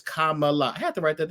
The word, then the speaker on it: Kamala: Now, the first thing is when they were like, "That's not how you say her name. Her name is Kamala."